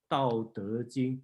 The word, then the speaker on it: Tao Te Ching: The traditional way call is Tao Te Ching T, start with T, because that's the Hong Kongese pronunciation.